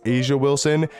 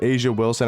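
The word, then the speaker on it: A'ja Wilson: want a budget option I think it's pronounced Asia Wilson she's a really good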